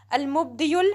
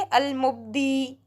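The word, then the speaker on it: المبدئ: इसको आगे मिला देंगे, अल-मुब्दियुल मुईद। लेकिन जब हमें अकेले अकेले पढ़ना होता है तो हम आखिर वाले हर्फ को साइलेंट कर देते हैं। तो हम इसको सिर्फ कैसे पढ़ेंगे? अल-मुब्दी, अल-मुब्दी, ओके।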